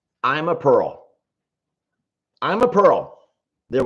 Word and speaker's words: Ima: I'm a Pearl.